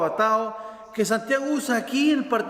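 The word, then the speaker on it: ἀπατάω: El verbo en griego es apatao, con acento en la O, apatao, que Santiago usa aquí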